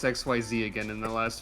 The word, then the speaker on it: Xyz: I forgot how to pronounce XYZ again in the last 5 minutes.